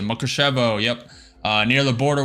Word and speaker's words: Mukachevo: Mukachevo. Yep, that's how you pronounce it. Makushevo.